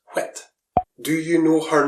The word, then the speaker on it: whit: I is pronounced ah, and what is pronounced whit.